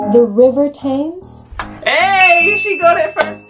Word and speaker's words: Thames: it's not really the river tame it's river thames i just realized i was focusing so much on you not saying fames that when you said they ask you how